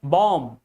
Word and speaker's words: bomb: so many words like bomb, B O M B, not bomb. Bomb, not bomb. So, whenever B comes just after M, B is silent.